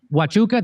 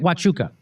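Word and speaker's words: Huachuca: Wuka, that's how you say it. Wuka.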